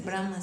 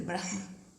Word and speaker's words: Brahma: Entonces, por ejemplo, Brahma no se dice Brahma, se dice Brahma.